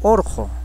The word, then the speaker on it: Urjo: Urjo, cerro macho, se pronuncia como orjo.